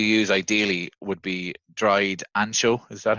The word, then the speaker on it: ancho: the chilies you use ideally would be dried ancho is that how you pronounce it yeah yeah or pablano chilies okay